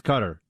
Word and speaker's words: Qatar: gonna head out to Qatar and I believe that is the official pronunciation that fox has decided on Buck I mean uh for the Arabic speakers out there it's cutter but but we're Americans